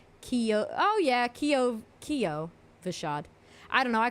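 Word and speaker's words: Kyovashad: I called it Kiavashad. And everyone was like, why do you say it like that? And I guess it's because they call it Kiovashad. And I was calling it Kiavashad. And, because it's an A, right?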